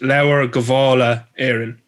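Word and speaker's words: Lebor Gabála Érenn: actual text is pronounced laura gavala aaron cavallier so it is it is an old spelling for something but it is kavala because uh technically h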